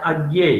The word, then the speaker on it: अज्ञेय: इसका हिंदी में सही उच्चारण है अज्ञेय, ठीक ठीक है सर ठीक अज्ञेय बोलते हैं है।